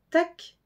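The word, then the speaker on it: tak: l mais plus un e vel favel merci tac t a K c'est le plus facile des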